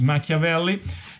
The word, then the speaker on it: Machiavelli: repeated the Italian pronunciation Machiavelli well you have the CH much of early but the Italian pronunciation is Machiavelli and tie bomba well